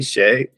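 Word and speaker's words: chez: but then kind of spin it back to its original French you know pronunciation and meaning Shay which is kind of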